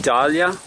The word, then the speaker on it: Dahlia: Dahlia, pronounced Dahlia. This is the flower Dahlia. Same spelling, D-A-H-L-I-A.